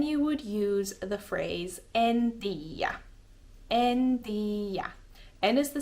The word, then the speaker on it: en tiiä: It means I don't, and then tiedä is just kind of smushed and shortened into tiiä, en tiiä. There's no logic behind this, I don't think. It's just for ease of pronunciation and quickness, I suppose. En tiiä. It's like for a lazy mouth. So you don't have to say en tiedä, you can just say en tiiä. It's, quicker and easier to say, I guess.